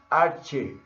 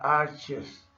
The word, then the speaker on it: arche: son dos cosas diferentes la palabra en griego para principio es ar arche arche a r c h e bueno así la la pronunciamos aquí en español y sin ser yo